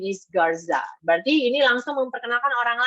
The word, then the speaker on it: Garza: Garcia. Actually, it's Garza.